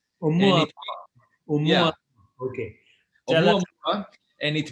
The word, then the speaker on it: 'Oumuamua: Pronounce 'Oumuamua. No, 'Oumuamua. 'Oumuamua.